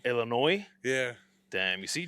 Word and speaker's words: Illinois: I'm I'm so like Illinois the S is silent bro Illinois yeah damn you see